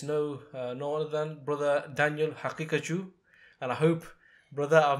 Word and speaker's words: Haqiqatjou: And it's no other than Brother Daniel Haqiqatjou.